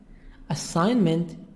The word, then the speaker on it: assignment: Assignment G silent والجي هتبقى silent.